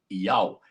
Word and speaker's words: Yauh: Transliterado na nossa língua lá em cima. O i, o ip, o a, o u e o h. I, o H fica mudo. Então, o nome do eterno é Ial.